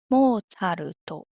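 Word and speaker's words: モーツァルト: 例えばモールトも字じゃなくてちゃですけど初めて見ると読み方に伴ってしまうかもしれませんね。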